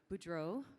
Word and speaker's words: Boudreau: But our first panelist is Boudreau, pronounced the American way, so I don't have to practice my French, thank you.